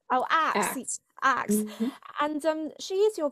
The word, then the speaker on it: Aks: Is that how the pronounced name? Aks. Oh, Aks.